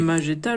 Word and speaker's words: Magetta: Magetta, logiquement, vu qu'il n'y a pas un U.